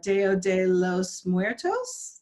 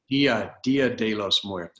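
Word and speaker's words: Día de los Muertos: good in my Spanish, but today is the deo de los muertos. Did I say it right? Dia dia de los muertos.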